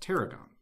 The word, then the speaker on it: T'Aragam: okay and the title of the book is pronounced Teragon for the audience that's correct for the okay